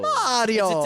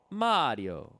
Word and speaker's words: Mario: Mario yep it's Mario Mario it's an Italian first name we know how to say it this this one was